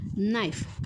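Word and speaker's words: knife: नाईफ बघा विद्यार्थी मित्रांनो सुरुवात कशापासून होते सुरुवात होते के पासून पण जो काही त्याच प्रोनन्सिएशन म्हणजे उच्चार काय आहे रे नाईफ तर विद्यार्थी मित्रांनो ह्यामध्ये के हा सायलेंट आहे काय आहे बघा बघा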